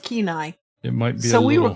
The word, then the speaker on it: Kenai: way the male moves nowadays at night it's pronounced Kenai it might so we were close right Sean